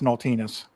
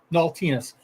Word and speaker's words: Naultinus: How did I do with my pronunciation? Am I off? It's Naultinus. Naultinus.